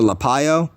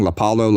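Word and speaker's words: Lapallo: Everybody else was saying Lapalo, Lapalo, Lapalo. I used to say Lapalo, but now that people actually know that it's Lapayo, I'm going to say Lapayo. So Bernardo Lapayo is a black Brazilian, a black Hispanic.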